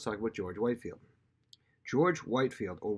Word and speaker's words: Whitefield: George Whitefield, or Whitfield, some people pronounce it George Whitfield, was perhaps the most powerful voice in England.